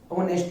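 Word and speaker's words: honest: होता है अंबल और एओटी में जो h है उसके बाद में ओवल आया है ओवल आने की वजह से h साइलेंट हो जाता है और एओटी का जो प्रोनंसिएशन होता है वो ऑनेस्ट होता है आई होप कि आपको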